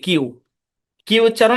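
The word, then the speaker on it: queue: জ আশা করি বুঝতে পেরেছেন আচ্ছা বাই এটার উচ্চারণ আসলে কিউই না। এটা হচ্ছে কিউ আর কি। কিউ কিউ উচ্চারণ আমি দেখাই।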